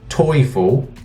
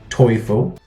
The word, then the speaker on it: Teufel: like that but really it's pronounced toyful in German toyful and you my friend